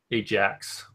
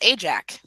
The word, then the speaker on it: Ajak: Ajax. No, there's no S. Ajak. Well, yes, but the X will still make an S sound at the end.